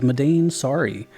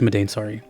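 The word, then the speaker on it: Madain Sari: on my list is medane sorry I never knew how to say the name but I'm pretty sure it's medane sorry also similar to burmesia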